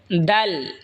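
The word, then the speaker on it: د: জিহ্বার আগা সামনের ওপরের দাঁতের আগার সঙ্গে লাগা উচ্চারণ হবে দাল। এই সা যেখান থেকে উচ্চারণ হয়েছে সেখান থেকে দাল উচ্চারণ হবে।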